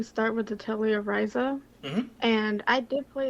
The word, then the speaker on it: Ryza: I was gonna say, in case anyone wasn't aware of what this game is, it's the Thigh game because Ryza rhymes with Thyza.